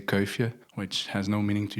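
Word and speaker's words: Kuifje: Tintin is very famous, although in Flemish we say kia, which has no meaning to you guys.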